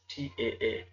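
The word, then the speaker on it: تاء: So this is pronounced a bit different, and this is called Ta. Ta. Yes, T-A-A. Ta.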